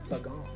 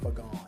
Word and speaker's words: Fagan: I I also heard that Fagon is pronounced Fagon. My My name is Fagan, but I heard that it's properly pronounced Fagon.